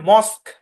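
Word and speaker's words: mosque: ইউ ই শব্দের শেষে কিউ ইউ ই একসাথে থাকবে কিন্তু ইউ আর ই সাইলেন্ট এখানে মস্ক কিউ মানে ডাব্লিউ এর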